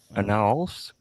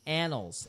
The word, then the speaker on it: annals: You said annals. Annals. Annals. That's right. That is actually a word, believe it or not. So Anna, like the name Anna, and then Ols.